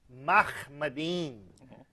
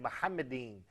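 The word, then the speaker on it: מחמדים: First of all, that is a mispronunciation of the Hebrew term, which is Mahmadin, not he said Muhammadin. But even that eem is wrong, but he did not pronounce the Hebrew khe. It's Mahmadin. Go ahead, Brother David.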